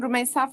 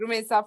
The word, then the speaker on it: Rumeysa: I am Rumeysa from Turkey. I will always say it like this, Rumeysa from Turkey.